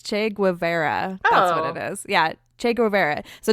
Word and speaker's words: Che Guevara: were seen as a che Guerra style Romanticism so Che Guevara's well I said no way wrong or no I'm sorry I said it wrong also it's Che Guevara oh yeah che Guevara